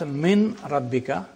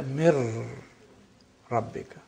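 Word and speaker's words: من ربك: So you don't pronounce min rabbika, you say mir rabbika.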